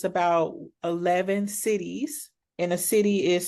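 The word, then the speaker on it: cedis: Right now it's about 11 cities and a city is spelled C E D I S but pronounced like Oklahoma City or Kansas City but that's the currency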